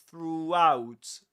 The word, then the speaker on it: throughout: And to go from there to out, you end up pronouncing a W sound. You say throughout.